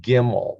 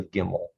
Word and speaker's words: gimel: so this is the gimmel this is the gimmel this is a hard g there is no soft g there is no ja in hebrew there's only a hard g a gimmel go and if you have